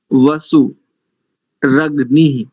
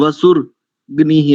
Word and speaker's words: वसुरग्निः: वैश वा नरो वैशवानरो वसु रग नि ऐसा करेंगे तो शुद्ध उच्चारण आएगा कई लोग वसु गनि ऐसा कुछ करते हैं वसु ऐसा ऐसा कुछ